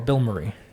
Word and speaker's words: Bilmuri: Bill Murray. All one word. So it's like Yeah. Bill Murray. Or Bill Murray.